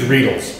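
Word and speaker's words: Riedel: off stemware we use rles rhymes with needle they're beautiful they're gorgeous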